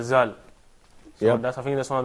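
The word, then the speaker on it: ذال: I think Zal could be slightly difficult to pronounce when you start learning Arabic straight, because it's the way you pronounce it from the top of your tongue to close to your teeth.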